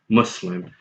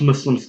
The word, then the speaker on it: Muslim: on top of that every American English Dictionary I've seen adopts the Arabic pronunciation of the word Muslim which is well Muslim as an English pronunciation as well and I like to